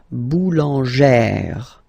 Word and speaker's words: boulangère: Okay, so boulanger, boulanger, and then feminine form, boulangère, boulangère. Same thing, don't insist too much on the final E, boulangère.